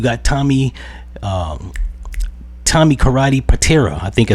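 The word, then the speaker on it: Pitera: You got Tommy um Tommy Karate Patiraa. I think I said his name wrong in another video, so I'm correcting it.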